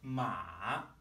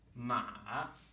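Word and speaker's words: 马: If the pitch of my voice dips and comes back up, ma, ma, this means horse.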